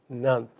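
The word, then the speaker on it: NANP: north american numbering plan abbreviated any NP and pronounced NAMP the name serves the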